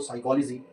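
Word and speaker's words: psychology: Silent हो जाता है एग्जांपल देखो साइकोलॉजी निमोनिया और नेट यहां पे आप देख इसको हम जी साइलेंट है यहां पे पी साइलेंट है और यहां पे साइलेंट है।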